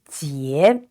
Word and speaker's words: 结: And the vowel is IE. It's pronounced ye, and with a rising tone, so it's ye. And the letter J is pronounced ji, so together it is 结, yes.